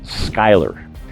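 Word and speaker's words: Schuyler: to the town of Skyler. Yes, it's another one of those Virginia names that we pronounce differently from how it's spelled.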